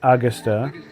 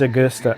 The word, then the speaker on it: Augusta: Not a Augusta. It's Augusta. Augusta.